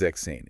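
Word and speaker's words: sechzehn: dictates huh drop the s from sex it becomes zexane it just flows so much better if it's okay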